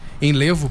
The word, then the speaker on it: Enlevo: Doutor, ele é diretor da clínica Enlevo, né, que é Enlevo, perdão. Eu combinei com o doutor antes, falei, não, eu vou combinar a pronúncia certinha, a gente chega na hora e acaba falando errado, mas tudo bem.